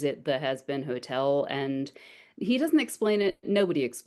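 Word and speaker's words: Hazbin: Yeah, it's spelled H A Z B I N. Okay. Oh, has been.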